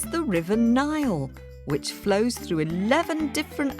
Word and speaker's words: Nile: well it's the River Nile which flows through 11 different African countries including Egypt and Ethiopia one way you can remember the name Nile is that it sort of rhymes with crocodile and wonder of Wonders